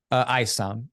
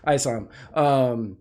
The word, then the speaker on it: Isom: ISOM, like the ISOM. Word eyeball, and then Psalm, like the Bible Psalm. Okay, ISOM.